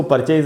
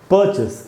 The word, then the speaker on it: purchase: अब आपको जान के बड़ी हैरानी होगी कि हम तो इसको परचेज अभी तक बोलते आए थे या दूसरों से भी आपने सुना होगा। परचेज एकदम ही गलत उच्चारण है दोस्तों, सही उच्चारण है परचेस।